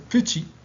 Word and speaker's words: petit: C'est petit. La lettre muette, c'est T.